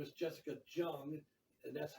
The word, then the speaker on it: Jessica Jung: stores her name is jessica jung and that's how you pronounce it you say the j is not silent you know it's jessica jung she was a member